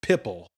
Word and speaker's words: Pipl: I think it's pronounced Pipple. Oh. It's like a play on the word people.